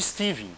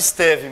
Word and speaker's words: Stevin: Dependendo de quem for dar aula para vocês, o cara vai chamar isso aqui de Steven, tá? Depende da pronúncia do cidadão aí, tá? Eu prefiro chamar de Stevin mesmo.